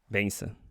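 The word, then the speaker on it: bênção: Benção, benção. That's how you say it.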